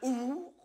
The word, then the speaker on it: ours: y a une faute, on ne doit pas prononcer le S de ours. Certains ours, montagnards, ours à demi léchés.